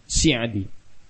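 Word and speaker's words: السعدي: Beliau adalah Abdurrahman bin Nasir bin Abdullah bin Hamad Al-Sa'di, atau sebagian membacanya dengan Si'adi.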